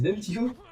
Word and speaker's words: Demtico: Moi j'ai eu Demico, mais c'est trop chiant à dire Demtico. Bon, mais t'as 3 syllabes. Mec, c'est trop chiant. Demico, mec. Ah, hop là. Demtico. Bon, c'est trop chiant, le T il est trop chiant.